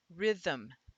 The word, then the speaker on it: rhythm: Now, rhythm and anthem, the second part sound exactly alike. Anthem is written with an E there to give it a vowel for that syllable, and rhythm is not written with an E. So all of those, the M is syllabic.